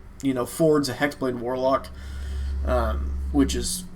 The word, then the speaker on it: Fjord: So it's like Fjord, but pronounced Ford.